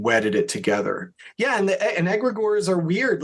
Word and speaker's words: egregore: It's either egregore or E. Gregory. E. Gregory. That sounds like an e-card service. Egregore, like an egg. Okay. It's egregore.